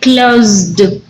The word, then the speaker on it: closed: that is like close look at the pronunciation of this one that is like a z sound right closed that is closed consider